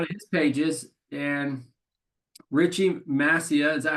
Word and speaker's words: Massia: And Richie Massia, is that how you say it properly? Massia? Messiah.